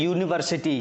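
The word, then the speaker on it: university: से समझ जाएंगे यूनिवर्सिटी तो इसका पहला अक्षर देखिए उच्चारण हम कैसे कर रहे हैं पहला अक्षर है इसका य पहला अक्षर क्या है य यह अ से अ तक में आता है या क से ग् तक में ओबवियसली ये आता है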